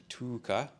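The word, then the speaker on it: Tuukka: He's Finnish, so there's a long, like, Tuka.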